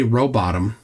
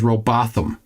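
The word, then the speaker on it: Rowbotham: Um, I've been told from multiple people who are England English speakers that you just pronounce it bottom, but I've also been told Botham.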